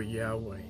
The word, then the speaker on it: Yahweh: is used for adonai the best guess so far as the pronunciation of the tetragrammaton is concerned is jehovah or yahweh the problem with these